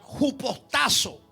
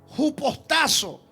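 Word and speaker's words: ὑποτάσσω: Apunte la palabra griega para someterse es la palabra que se pronuncia jupostazo. Jupostazo que significa obedecer, estar sujeto o sumiso.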